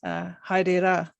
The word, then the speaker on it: haere: Ngā mihi, and goodbye is haere.